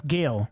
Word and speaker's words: Gil: Oh, it's Gil. I know the pronunciation is weird, but yeah, I too was fucking about Starry Strom, but I've been all over the place.